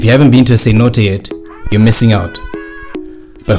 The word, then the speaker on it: cenote: One of the best things about living in Tulum is being able to visit the many nearby cenotes. And if you haven't been to a cenote yet, you're missing out.